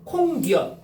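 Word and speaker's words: 콩엿: 자, 그 다음에 콩니엇.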